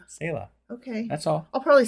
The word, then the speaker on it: Selah: Apparently, Selah is Selah.